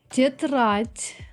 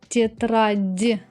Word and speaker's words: тетрадь: Тетрадь. I don't pronounce тетрадь. I pronounce тетрадь like with the letter T.